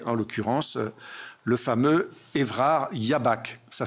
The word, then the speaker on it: Jabach: considérable, qui est en l'occurrence le fameux Évrard Jabach. Ça s'écrit J-A-B-A-C-H.